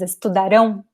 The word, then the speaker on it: estudarão: In the future tense, however, the end, there's an accent. And when there is a graphic accent, you know that syllable, that word, that letter is very stressed. So here, the pronunciation is estudarão, tirarão.